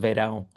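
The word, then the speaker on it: Verão: It's the Portuguese word for summer, so it's pronounced va.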